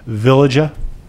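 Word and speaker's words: veliger: through a thing called, I believe the right pronunciation is a villagia.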